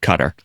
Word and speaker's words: Qatar: Middle East in uh Qatar some folks pronounce it cutter but um he's a